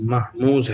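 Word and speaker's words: مهموز: محموز یہ ہوتا ہے، اب اس کو محموز بھی کہتے ہیں اور صحیح اس کا تلفظ محموز ہے۔ محموز محموز لفظ بنا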